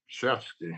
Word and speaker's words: Olszewski: curious if you use the W as a V. I'm sorry? You pronounce the W as a V, a Shevsky.